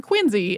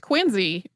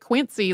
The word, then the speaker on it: Quincy: who the city of quiny is named for pronounced his name quiny and so it these names are pronounced quiny it probably shocks people who have said it Quincy their whole lives but that's uh how it